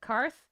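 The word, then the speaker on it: Carth: c a r t h how do you pronounce that karth karth karth onasi thank you for the $2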